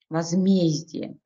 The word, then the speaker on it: возмездие: возмездие. Слово это среднего рода, ударение падает на «е».